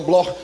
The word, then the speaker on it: Bloch: Se escreve Bloch, mas se pronuncia no alemão Bloch, judeus alemães.